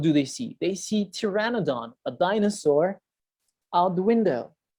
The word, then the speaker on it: pteranodon: the same the pteranodon silent p we do not pronounce p we say pteranodon was soaring through the